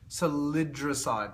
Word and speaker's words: salidroside: Salidroside.